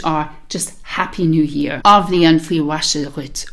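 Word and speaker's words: Athbhliain: And the way this works is you have A, the TH is silent, so it's just A. And then you've got the word for year, which is blian, blian.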